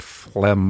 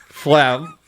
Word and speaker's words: phlegm: what it means but it's an ugly word with an unnecessary g yeah i mean that's almost the worst part even if i didn't know what phlegm was just like the